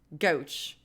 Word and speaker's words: Gouch: It's pronounced like couch, but with a G. Gouch.